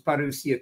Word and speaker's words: parousia: With him, when he returns at his parousia, that's the Greek word, and I'm using the modern Greek pronunciation for Greek words if I use them, because our Greek-speaking friends enjoy that. When he returns at his parousia to bring in this